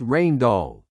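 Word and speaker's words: Rijndael: Two brilliant cryptographers from Belgium, Vincent Ryman and Joan Damon, submitted an algorithm they called Rain Doll, pronounced Rain Doll.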